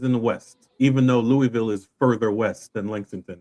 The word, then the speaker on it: Louisville: You're not you're not rolling your mouth enough. I'm just kidding. Go ahead. You got to say it like you've got marbles in your mouth.